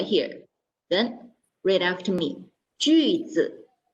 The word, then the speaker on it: 句子: 句子. It's a U pronoun. Okay, so let's try again. 句子. Very good. Then 句子 in Mandarin means sentence.